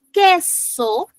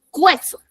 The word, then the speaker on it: queso: Y en queso no se escucha o no se pronuncia la U, porque si lo pronunciáramos no diríamos queso, diríamos cueso.